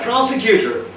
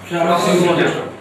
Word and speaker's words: prosecutor: Yeah, prosecutor. How do you pronounce the word? Prosecutor.